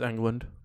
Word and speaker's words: Englund: Johnny Depp, Robert Englund? It is England.